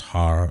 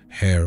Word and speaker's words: Horus: of kingship and War Horus in Egyptian either might be pronounced har or her or heru in ancient Egyptian religion